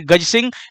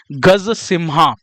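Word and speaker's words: Gaja Simha: लोगो की भी बात करेंगे तो अभी आपको ध्यान रखना है गज सिंह या फिर गज सिम्हा, है ना। इंग्लिश में इसकी स्पेलिंग क्या है?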